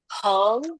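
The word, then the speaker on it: 横: Yang lurus datar seperti ini dibacanya heng. Yuk, boleh lafalkan dengan saya. Heng. Yes, heng. Ingat-ingat ya. Jadi yang lurus, yang datar, itu dibacanya heng. Ingat ya.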